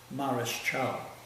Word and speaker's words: Mareschal: In those days the word was not pronounced Marshall, it's Mareschal.